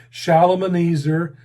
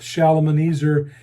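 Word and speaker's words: Shalmaneser: and the destruction was led by the king shalom and easer the fifth shalomeneser is spelled s-h-a-l-m-a shalom and easer s-h-a s-h-a-l m-a-n-e-s-e-r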